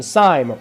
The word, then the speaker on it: Sime: My name, Sime, rhymes with.